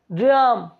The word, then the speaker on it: dream: अब इनमें से DREA भी वॉल था, तो हमने ड्रीम बोला, ड्रीम नहीं, या ड्राम, ड्रियम नहीं, ऐसा तो नहीं बोला। क्या बोला, DREAM, ए साइलेंट हो गया, और ड्रीम।